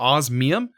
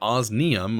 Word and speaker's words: osmium: for getting osum or osmium I I always pronounce it osum look an N even though it's an M um but we still